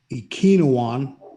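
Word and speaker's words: Ekwonu: water number two akeem i think it's pronounced ikinowan from north carolina to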